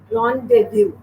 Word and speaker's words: rendezvous: It has 3 syllables, right? It's pronounced as rendezvous. Rendezvous. Rendezvous. How do you pronounce it? Try imitating or copying after me, right? So it is rendezvous. It's not rendezvous. Again, I repeat, rendezvous.